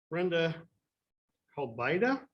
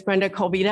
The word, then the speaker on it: Brenda Colvita: could you enforce that brenda calvida forgive me if i've mispronounced that yeah told me either thank you my name is brenda colvita i'm from amick county